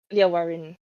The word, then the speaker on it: Warren: Warren. You just pronounce it like that. It's fine. Just as it's read.